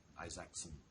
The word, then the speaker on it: Isaacson: And there's, of course, Steve Jobs by Walter Isaacson. That's how it's pronounced.